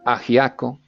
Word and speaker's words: ajiaco: You can see that the J is pronounced almost as an H, ajiaco.